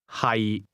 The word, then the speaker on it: 係: 係 The difference is that to be is pronounced with a low, level tone, and to be located is pronounced with a mid-rising tone.